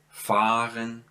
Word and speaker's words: fahren: See, I don't pronounce ha, I just prolong the a here. So zahlen, fahren, das Paar.